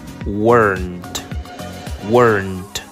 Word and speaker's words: weren't: Aquí la pronunciación nos presenta un grado más alto de complejidad, ya que es weren't, ¿sí? W-E-R-N-T, como si se escribiera de esa manera. Weren't. Tiene que sonar esa T del final.